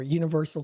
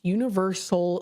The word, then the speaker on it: UniverSoul: It's Universal Circus, so it's Universe. Here, I'll spell it for you. UNIVERSOUL. So you think of Universal, S-A-L, it's soul, like of the soul.